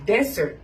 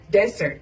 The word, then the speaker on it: desert: ทะเล ทราย นะ เ จะ ออก เสียง ว่า Desert Desert นะ คะ แต่ วัน นี้ ของ หวาน ขนม